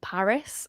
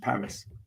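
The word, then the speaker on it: PVRIS: so I love a band called Paris it's spelled PVR I know them I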